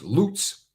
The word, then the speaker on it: Lutz: do you see that my town is Lutz but pronounced loots if you say it wrong the locals correct you so do you say